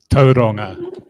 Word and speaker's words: Tauranga: Tauranga, as in Tauranga. Yes, I can pronounce most Māori pronunciations appropriately and properly.